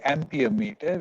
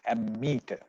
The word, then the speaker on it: ammeter: amperes the current so but we don't say amperometer we call it ammeter so yeah again i'm